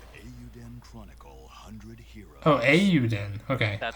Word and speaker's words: Eiyuden: Oh, Eiyuden. Okay. That's how you pronounce it.